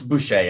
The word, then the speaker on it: Boucher: It's Boucher, actually. Boucher, thank you.